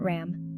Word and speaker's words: RAM: Solar Plexus Chakra, chant RAM, pronounced RUM.